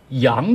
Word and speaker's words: 降: 降病不行，这里的降呢可以读成阳，也就是通那个假装的那个阳，阳病不